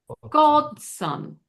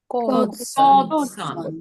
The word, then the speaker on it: godson: Now, you notice that son, it has an O, but it's not pronounced the same way. When you say sun, S-O-N, it's the same as S-U-N, the thing in the sky, right?